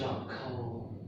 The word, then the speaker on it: charcoal: Charcoal. Can you say this word? Coal. Oh yeah, very good. But this one, unfortunately, we stress the first word, the charcoal.